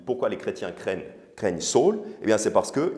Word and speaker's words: Saül: pardon Saul et quand Saul ça se prononce Saul fut arrivé à Jérusalem